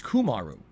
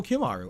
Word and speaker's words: Kumaru: It's Kumaru. Kumaru. I always thought your name was Kimaru. I'm sorry. Wow, I was pronouncing your name incorrectly all along.